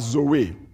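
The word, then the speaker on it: ζωή: in this verses is a Greek word that we pronounce as Zoe anybody here by the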